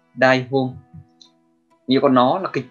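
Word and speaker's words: 台本: Cách đọc của nó là đai hôn, đai hôn.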